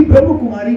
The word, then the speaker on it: ब्रह्मा कुमारी: ब्रह्म कुमारी नहीं, ब्रह्मा कुमारी कहना है।